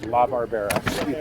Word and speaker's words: La Barbera: La Barbera. If you know the old Hanna-Barbera cartoons, if that kind of rings a bell, you're maybe not old enough for that.